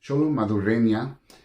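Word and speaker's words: Xolo Maridueña: Jaime Reyes, played by Xolo I know how to say his name, Xolo Madurenya, is basically thrown into this world with this scarab.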